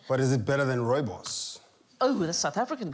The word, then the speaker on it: rooibos: But is it better than rooibos? Ooh, that's a South African tea, isn't it? Rooibos. I'm so glad that you said I didn't know how to pronounce that. Rooibos. I've been calling it ruby booze for years.